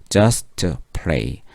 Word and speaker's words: just play: 자, 또 T 발음이 연속해서 왔습니다. 그럼 앞에 거 생략한다 그랬어요. 그래서 just play just play 그녀는 그냥 노는 것 그 자체만으로도 행복했다.